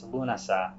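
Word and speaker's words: Lughnasadh: mentioned a second ago it's it's lunasa you'll see it spelled different ways it's often spelled l-u-g-h-n-a-s-a-d-h um the Modern Irish spelling is l-u-n-a-s-a um you'll see other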